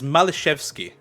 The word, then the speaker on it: Maliszewski: I actually got clarification on the pronunciation from one of my Polish friends. Oh, please go ahead. It is Maliszewski.